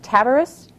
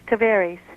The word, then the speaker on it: Tavares: Is it Tavares? No, ma'am, it's Tavares.